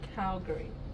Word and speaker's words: Calgary: It's Calgary. We have a C-A-L-G-A-R-Y. Calgary. Calgary is how it's pronounced.